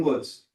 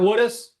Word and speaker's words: Woods: All right, Your Honor, we're ready for, I got the name right on this one, Woods. Did not mispronounce this one. It's not Woodis?